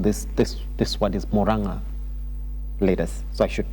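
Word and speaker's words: Murang'a: September 12th, Moranga leaders, I was told this this this word is Moranga leaders. So I should pronounce it correctly. Moranga leaders.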